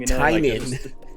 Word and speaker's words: Tynion: It's written by Tinian or Tinian or Tinianian, whatever you want to call him. Tynion.